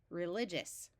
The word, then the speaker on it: religious: before a single consonant and before the suffix religious that doesn't sound right so let's switch from a long eye to a short eye religious although this is the